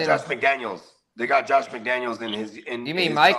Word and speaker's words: McDaniel: It's spelled different. McDaniel, Josh is with an S, and Mike is with no S. It's just McDaniel. It's McDaniel. So it's not.